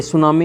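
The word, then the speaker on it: tsunami: टी इसमें silent रहता है। तो टी एस यू एन ए एम आई ये सुनामी हो जाएगी और फिर इसमें भरना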